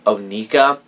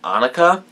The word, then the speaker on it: Onika: that this is spelled although it is Onika it looks like anuka and I thought for the longest time her name was anuka and it took me